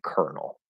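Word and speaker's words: colonel: say it that way we say kernel right so there's another word this word which is pronounced exactly the same is this word exactly the same pronunciation kernel okay another reason yet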